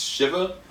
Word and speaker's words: Shiva: I think the name of this episode is pronounced Shiva.